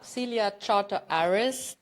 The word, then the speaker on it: Celia Chartres-Aris: about that because my guest today is Celia Celia Charter Aris did I say it right yes you did